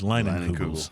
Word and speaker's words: Leinenkugel's: Remember, to make sure we were pronouncing their name right. And they did confirm that it is Leinenkugels.